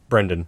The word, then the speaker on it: Brendan: set up high expectations you pronounced your name Brendan right Brendan yeah yeah yeah cool what's the other pronunciation well he just said Brandon I was like oh